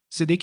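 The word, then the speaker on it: צדק: Após as 3 noites de escrita com açúcar e sal, e antes de queimar o papel, deve-se pronunciar outra palavra em hebraico, Sedek hebraico, Tsad hebraico, Dalet hebraico, Kuv, que significa justiça ou equilíbrio.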